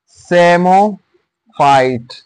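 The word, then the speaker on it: psammophyte: हम नाम दे देते सेमो फाइट सेमो फाइट सेमो फाइट और इसमें पी जो है य साइलेंट है और सेम फा सेमो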